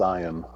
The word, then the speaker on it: Ian: No, it's not Ian. It's Ian.